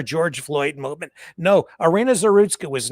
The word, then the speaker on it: Zarutska: Irina, I can't pronounce. Irina. What's the last name? I'm sorry. I apologize. There's Zarutska. Is it Zarutska? Yes. Irina Zarutska.